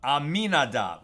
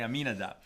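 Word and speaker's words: Amminadab: happen nakad had trab I always say his name wrong uh aminadab okay aminadab uh nakon had complete amuna complete faith in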